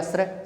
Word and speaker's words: श्रेय: इसका उच्चारण क्या हो जाएगा, श्रेय।